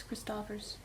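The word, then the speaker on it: Christoffers: say it wrong Christopher's it's either Christopher's or Christopher's and it's been talked about on the knit girls podcast and I can't remember which way because they were saying it wrong and then she taught at that SSK their summer retreat and I can't remember which way it is so it's Chris toppers like Kristofferson yeah but it might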